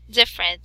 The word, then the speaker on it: different: So we have here the word different. So which is the sound? The middle E. You don't need pronounce.